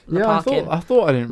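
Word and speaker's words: Lopakhin: It's Leparkin, for anyone wondering. Carmen did a not prank on me when I was in rehearsal process, and I was like, "How do you pronounce this name?" She was like, "It's Lopkin," and I had this line. Came on stage. I go, "Lopkin's here. Leparkin's arrived," and I just got it completely wrong.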